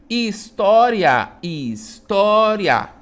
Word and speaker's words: história: História, termina em ditongo crescente, né? Ó, porque é uma semivogal mais uma vogal. Então, ia, né? Ó, história, tá? Então, a penúltima sílaba é a sílaba tó, né?